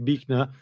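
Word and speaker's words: Buechner: And this fell here is a guy called Frederick Bner although it's spelled Bner but uh Fred Frederick Bnner and he was a uh quite a amazing storyteller and and sermon giver.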